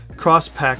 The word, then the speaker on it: Crosspack: I know it looks X-Pack because that's the way it's spelled, but it's not. Crosspack, just like the rest of the Coat of Bell bags.